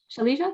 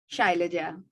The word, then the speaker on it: Shailaja: Shalija, did I pronounce that correctly? Shailaja.